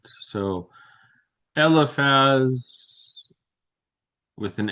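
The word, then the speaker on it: Eliphaz: There are moments where the spelling is a little bit different, but the pronunciation is not. So, elephaz with an f or laz with a ph. Guess what? It's still elephaz.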